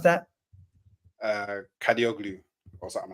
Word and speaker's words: Kadıoğlu: How do you pronounce that? Kadioglu or something like that. Ferdi Kadıoğlu.